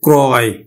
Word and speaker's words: ক্রয়: অন্তস্থ থাকার ফলে আর র ফলা যুক্ত ও টা অ এর মতে উচ্চারিত হবে ওকার হবে না তাহলে উচ্চারণ হবে কিন্তু ক্রয় ত্রয় ত্রয় এর মতই